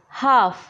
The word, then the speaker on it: half: Our first word is हाफ, HALF, हाफ। इस word में L silent है।